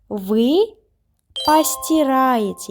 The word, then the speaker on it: постираете: Вы постираете. Yes, we write по, but we pronounce па because it is unstressed.